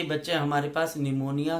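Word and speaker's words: pneumonia: के बच्चे हमारे पास निमोनिया के स्पेलिंग के अंदर पी की है बच्चे। तो हम निमोनिया जब बोलते हैं तो उसके अंदर जो पी है बच्चे वो कहीं पर गायब हो जाता है, तो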